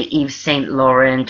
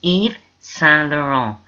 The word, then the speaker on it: Yves Saint-Laurent: You don't say Yves Saint-Laurent or Yves Saint-Laurent or anything like that. It's Yves Saint-Laurent. You don't pronounce the T's and you don't say Saint or anything that sounds like it.